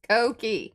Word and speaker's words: Koki: Eddie says, Koki. Accent on the key.